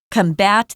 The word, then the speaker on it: combat: But to combat, we pronounce it differently. So the jong is on com combat combat this growing problem.